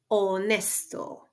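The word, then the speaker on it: honesto: also wanted to highlight that it's um it's mute it doesn't have a sound in ESP just um um like in these examples here we have the word otel ospital can you guess the pronunciation of the next word see onesto onesto and then finally we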